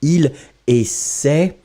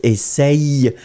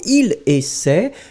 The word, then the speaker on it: essaie: And in fact, you will pronounce it il essaie. Normally, you don't pronounce essaye.